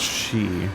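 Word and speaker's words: Sídhe: i shall allow it it's pronounced she may your path be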